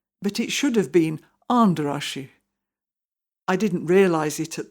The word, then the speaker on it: Andrássy: Andrasi. Well, that's how we pronounced it, but it should have been Anderashi.